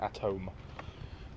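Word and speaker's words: atoom: and gas even though the dutch one actually says atum double o which is apparently pronounced at home and like i say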